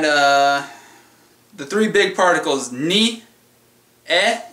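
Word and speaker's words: へ: And the three big particles, ni, e, even though it's a he, it's pronounced e, and de.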